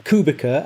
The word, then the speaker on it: Kubica: The C in Kubica, as he's sometimes pronounced, it's a ts sound.